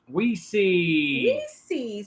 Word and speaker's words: Wessie: My name is Wessie, pronounced Weesey.